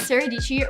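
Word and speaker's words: Dietschy: that i've used my name is saradici rhymes with peachy and i am a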